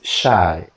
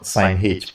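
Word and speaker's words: sinh: If it's a minus, it's shy. I don't know, sine h, please. I always pronounce that as shy.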